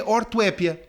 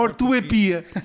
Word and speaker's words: ortoépia: com a pronúncia vir pode ser a ortoépia ou ortoepia então apc 5m pcyes